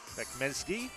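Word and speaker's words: Bekmezci: That's Bekmezgi, to give him his correct pronunciation.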